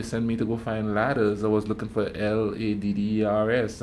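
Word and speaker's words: Lattas: know what I mean there's a store down here that was spelled l-a-t-t-a-s but they say ladders so when you when they send you the Google file they send me to go find ladders I was looking for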